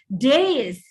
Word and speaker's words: dais: It's days, debris, colonel.